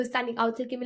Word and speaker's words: ou: Okay, so je means I, tu means you, il or sorry, il ou elle, ou is what I pronounce this. It's this word, which means or.